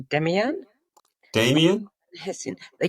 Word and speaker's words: Demian: Not entirely sure of the pronunciation. Demian? Damien. Hessian. They call it Damien.